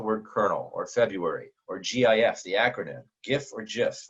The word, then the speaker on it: GIF: therefore I believe that's how it should be pronounced, GIF.